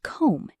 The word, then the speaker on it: comb: The B in the word comb is silent.